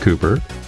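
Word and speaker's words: Cowper: Twilight of brius by Richard Cooper spelled cper pronounced Cooper and who doesn't like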